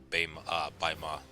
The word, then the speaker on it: Baima: I'm just used to saying Beima for some reason, but it's Baima and Yanjin. Yeah. Listen. Yeah, this map actually looks pretty damn big for it to be just Baima.